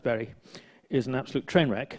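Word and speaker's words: Bury: This one, Berry, it's pronounced Berry, is an absolute train wreck.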